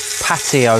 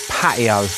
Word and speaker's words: patio: I come from a place called Essex in the UK, and we don't very often pronounce the letter T in words. So I said patio, not patio. So we're going to take